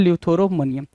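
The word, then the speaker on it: eleutheromania: तो उसको बोलते हैं ल्यूथोरोमोनिया। ल्यूथरोमोनिया बोलते टाइम आप एक चीज नोटिस करेंगे कि ई साइलेंट हो रहा है। ई को क्या करेंगे भाई? साइलेंट रखेंगे तो ल्यूथरोमोनिया बन जाएगा। ल्यूथरोमोनिया।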